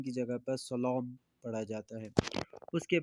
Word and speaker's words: سلام: سلام، سلام کہتے ہیں وہی جو اردو میں سلام استعمال ہوتا ہے اسی کو، تھوڑا اس میں لہجے میں لام کو موٹا کر کے پڑھا جاتا ہے، سلام کی جگہ پر سلام پڑھا جاتا ہے۔ اس